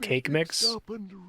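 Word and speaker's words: Kaqemeex: there we go now take this back to cake mix at the stone oh his name is supposed to be pronounced cake mix ready okay joke is that's a funnier name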